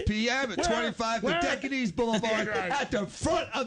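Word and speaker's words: Dodecanese: Decantis, Docantis Boulevard. What is the actual physical address of Tropics Tarpon Springs? 25 Docantis Boulevard, Tarpon Springs, January 20th at 6 o'clock. Dan, did he pronounce it right? It's Dodocanes.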